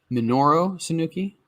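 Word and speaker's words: Minoru Suzuki: guy so yeah man is it pronounced monoro sanuki minoro sanuki yes Menorah okay yeah and and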